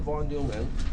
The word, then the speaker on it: von Neumann: John von Neumann, or I think you told me that it's pronounced von Neumann.